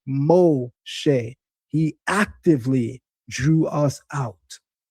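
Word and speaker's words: משה: It's pronounced O, and the shin dot on the top right of the shin, SH, making it SH instead of S, as well as the segol vowel, which are those 3 dots, look like a smiley face, those 3 dots, that gives you the eh sound, making an eh. So in pronouncing it, we get Moshe.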